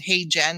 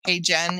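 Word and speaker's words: HeyGen: demo on LinkedIn I used a software called hey Jen it's spelled h y geen hey Jen and it um will record whatever your messages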